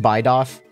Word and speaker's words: Bidoof: Yeah, and he's pronounced Bidoff.